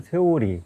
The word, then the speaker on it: 세오리: 이점 국한 두대 청명 세오리 낚시대로 쌍포로 생에서 낚시를 하고 있는데 원래는 청명 띠입니다 영어로 띠어리 원리 이론 뭐 이런 뜻인데 일본식 발음으로 보면은 세오리 이렇게 발음하는데 일본말로 세월이가 세력이 크다